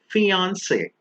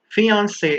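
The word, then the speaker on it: fiancé: fiance now please remember many people are confused and they think that these two words are pronounced differently but no fiance is a fiance whether it's a man or a woman the only difference is in writing remember the one with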